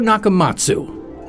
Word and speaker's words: NakaMats: that includes a wig for self-defense meet yushiro nakamatsu you may notice his name is spelled nakamats he dropped the letter u because